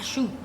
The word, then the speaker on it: choux: The next step, my friends, is pâte à choux, or choux paste. Choux is spelled C-H-O-U-X. Not like the shoe on your foot.